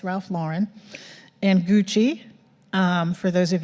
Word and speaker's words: Ralph Lauren: companies such as Ralph Lauren I used to mispronounce that all the time and call it Ralph Lauren but it's Ralph Lauren and Gucci for those of you who are